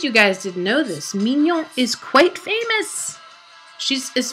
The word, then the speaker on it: Mignon: And maybe she doesn't pronounce her name Mignon, but because it's French, I'm going to say it the French way. And in case you guys didn't know this, Mignon is quite famous.